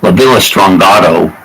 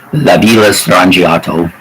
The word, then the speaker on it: La Villa Strangiato: La Villa Strangato, or La Villa Strangiato, which is probably the way you should pronounce it.